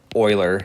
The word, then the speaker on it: Euler: base E or the Euler number this is pronounced Euler he's an old famous mathematician and to be